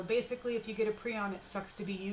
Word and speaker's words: prion: of RNA prions and that is how you say the word I have met the person who invented the term his name is Stanley Preston her and if you invent the term you get to decide how it's said and so it's prion prions are infectious proteins prions